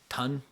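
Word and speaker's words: Thun: then we get to the song ton which according to genius is a queen's pronunciation of the word Sun which is cool he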